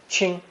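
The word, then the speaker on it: 清: with the ching phonetic also pronounced first tone ching ching it means clean clear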